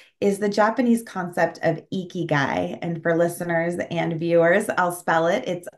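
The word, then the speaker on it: ikigai: social impact space is the Japanese concept of eeky guy and for listeners and viewers I'll spell it it's I Ki G Ai and um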